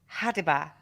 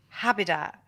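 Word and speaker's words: ha'DIbaH: to mean animal and it's supposed to be hadiba but he says habitat which apparently um is also the same mistake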